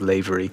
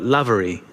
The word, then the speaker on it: Lavery: The most common mispronunciation is Lavery. But Lavery, like Lav.